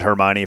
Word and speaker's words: Hermione: When I heard Hermione for the first time, I was like, that's how you say it?